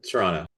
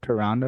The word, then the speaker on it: Toronto: So Well, if you're American, we say it with a D, right? Isn't that the thing? But Toronto. Toronto.